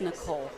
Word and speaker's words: Nichoel: It's just Nichoel. Well, that's it's perfect. Just spelled weird.